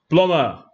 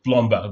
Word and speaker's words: plumber: And this word plumber. Hey, many of us, including myself, will say plumber. Go and call me the plumber there. No, the be here is silent. Plumber. That's by way of reminder, plumber.